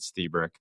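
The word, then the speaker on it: Lstiburek: This guy Joe Stebrick. It's spelled Lustbrick. L T I B- U R E K, but he pronounces it Stebrick.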